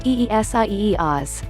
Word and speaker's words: Isaias: news conference after the storm pronounced eesie oz spent hours roughing up